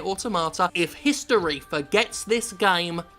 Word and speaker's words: Automata: Few games are able to showcase the power of the medium like Nier Automata, and that's how you say it, Automata.